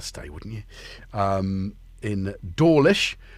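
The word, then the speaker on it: Dawlish: Um in Dorish, which is spelled like digital audio workstation. If you drop the L, which they should, it would be doorish.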